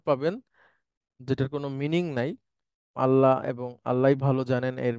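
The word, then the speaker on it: الله: সেটাকে আমি একটু লিখছি আল্লাহু এটাকে বলা হয় আল্লাহ শব্দ এটার শুদ্ধ উচ্চারণ হচ্ছে ল অর্থাৎ লানা সাধারণত আল্লাহ বলতে আমরা বাংলা শব্দের যে ল টা আছে সেটা ব্যবহার করব ল আল্লাহু আল্লাহু আল্লাহু আর কখনো কখনো এই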